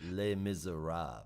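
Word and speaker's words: Les Misérables: Frenchy you know that you pronounce it Les Miserables right yeah a little macabre doesn't have the r and the end of it and it's also a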